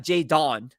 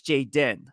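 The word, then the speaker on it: Jaydon: his name is j-a-y-d-o-n so it's not Jay Dawn it's Jayden all right but just spells it differently pronounces it same so Jaden when I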